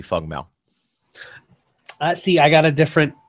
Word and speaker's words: Feng Mao: He has two different pronunciations. It is Fang or it can be Feng. I was told 100% it's strictly Feng Mao.